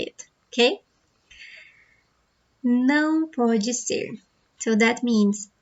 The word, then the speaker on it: não: Do you know how to pronounce the word não? That means no. And the sound is like this. Não. You should feel the sound in your nose because it's a nasal sound.